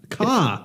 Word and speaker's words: Ka: Ka. No. If you look at the documentation, Ford leadership says The KA. the KA as is pronounced with the first two letters of the word cat.